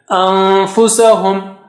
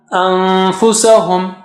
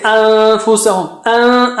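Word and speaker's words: أنفسهم: So how do you say anfusahum? So fa, go close to the makhraj of fa and then take the sound from your nose, like anfusahum, anfusahum, anfusahum. Don't say anfusahum.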